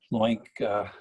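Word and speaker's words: LOINC: their as their logo because link rhymes with oink charles jaffe he's the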